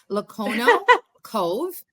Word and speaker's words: Lono Cove: if if you if your audience wants to pronounce it with me it's Lono Cove and I know it's like we have um